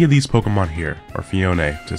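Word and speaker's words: Phione: But you cannot use Mew, Celebi, Jirachi, Deoxys, Fioni, any of these Pokemon here, or Fione, to say the correct pronunciation, whatever.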